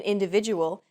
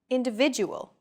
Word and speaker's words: individual: that are unstressed individual the stressed syllable V in individual is deemed more important so it's pronounced longer than all other syllables listen to it again individual this gives English a